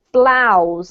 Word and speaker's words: blouse: that wasn't quite right this is actually blouse and it rhymes with cows okay so don't be put off by the weird spelling this should be blouse BL house perfect well